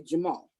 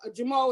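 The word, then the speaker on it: Jumeau: that was left there the doll was a jamal so i just said that again how do you spell it it's j-u-m-e-a-u a story amazing story so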